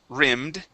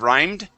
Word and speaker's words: rimmed: And this is going to be wire rimmed instead of rhymed.